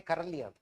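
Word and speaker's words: Королёв: His name was Sergey Karvo written as K O R O L E V pronounced as Karv.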